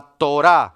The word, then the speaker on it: torá: dos palabras hebreas fáciles la torá repitan conmigo torá tonito de paso el hebreo casi siempre es agudo termina con acento en la o bueno en la última sílaba y usualmente terminan en